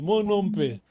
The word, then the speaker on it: monompe: Mono, pronto, no acento, no O, no último O. Mas Não, não. se você estiver a pronunciar, eu também, monompe, tá bem? Hum. O acento é agudo, monompe.